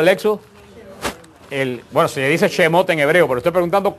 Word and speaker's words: Shemot: al libro de lexus el bueno se dice ese mote en hebreo pero esté preguntando cómo le decía